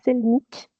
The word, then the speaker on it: Selnick: Euh, En tout cas, on a mis également autour de la table Selnick, c'est bien comme ça qu'on prononce, Parfait, oui.